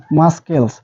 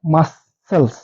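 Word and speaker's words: muscles: Saint মানে হচ্ছে সুগন্ধ মাসেলস এটাকে কি উচ্চারণ করবো আমরা কিন্তু উচ্চারণ আমরা এভাবে করি মাসকেলস সেই ক্ষেত্রে কিন্তু উচ্চারণটা ভুল হবে আমাদের কি সঠিক উচ্চারণ করতে হবে মাসেলস মাসেল হচ্ছে আমাদের মাংস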